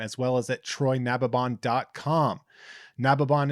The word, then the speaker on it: Nababan: Nababon is spelled Nababan, and